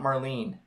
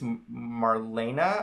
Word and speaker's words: Marlene: she and Mar Marlene it's not marleene I just learned it's Marina I think anyway it's three syllables I'm gonna say Marina I think that's right I I learn that